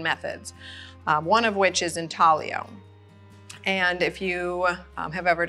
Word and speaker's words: intaglio: So the Italian word intaglio, I-N-T-A-G-L-I-O, pronounced intaglio, means to incise.